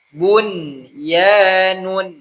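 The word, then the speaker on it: بُنْيَان: Kalau rumusnya itu nun sukun bertemu ya itu idgham dihunah. Idgham dimasukkan ghunah dengan dengung. Tapi karena ini kalimat yang di luar kaidah maka bacanya jelas. Bunyun.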